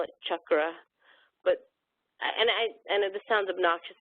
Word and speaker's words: chakra: pleas please please please do not pronounce it as chakras it is there's no such there's no such word it's cha with an actual hard CH sound chak chak means wheel if you can't say